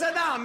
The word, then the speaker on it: Saddam: his bunker and I racked his dog it's Saddam it's not that other pronounce what's wrong with this guy sattam Chatham's